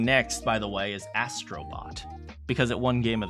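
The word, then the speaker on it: Astro Bot: So the game I was thinking of playing next, by the way, is Astrobot, because it won Game of the Year. What do you guys think? In Japanese, it's pronounced Astrobotto. Anyway.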